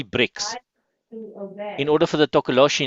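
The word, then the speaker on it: tokoloshe: Here in South Africa, we got something called the tokoloshi. Can you pronounce that, Ed? Tokoloshi. Takaloshi.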